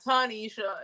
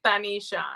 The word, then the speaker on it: Tanisha: it's gaby so and my name is tanisha and it's not tanisha it's just whatever i say you say tanisha or nisha or whatever but it's literally tanisha like it's da nisha